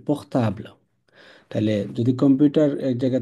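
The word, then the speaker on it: portable: যায় কিন্তু ফরাসিতে এটা এই ইংলিশ শব্দটারই ফরাসি উচ্চারণ হবে পোখতাবলা তাইলে যদি কম্পিউটার এক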